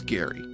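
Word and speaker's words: Gari: Uh, G A R I pronounced Gary.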